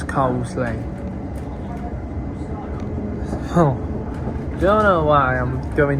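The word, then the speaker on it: Coseley: cuz it's spelled as Casselli, but we all know it's cosley.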